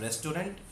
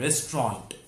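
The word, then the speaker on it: restaurant: इट इज़ not called रेस्टोरेंट, इट is called रेस्टोरेंट। रेस्टोरेंट।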